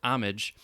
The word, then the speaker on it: homage: is further muddied by the modish french influence version homage strictly speaking that pronunciation ought to be limited to artistic context where the french word homage uh or homage yeah the french word homage he's saying that is the french way to say or closer to it